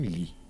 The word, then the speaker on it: lhe: Veja como nós pronunciamos o me. O menino mi é como se fosse um mi. O lhe é como se fosse um li. E o o é como se fosse um u. Bem simples, bem sutil.